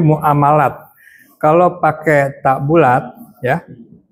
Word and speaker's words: muamalat: Jadi sebetulnya bacanya tuh bukan muamalah, tapi muamalat.